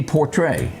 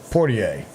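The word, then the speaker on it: Poitier: And then we would also lose Sidney Portray. Yeah. You know how you say it? Portier.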